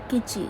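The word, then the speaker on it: Kitti: from the village of kichi k-i-t-t-i but it's pronounced kichi and like kimchi without the m and and her husband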